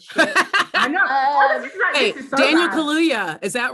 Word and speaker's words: Kaluuya: Hey, Daniel Kaluuya, is that right? I got one right. Daniel Kaluuya is right.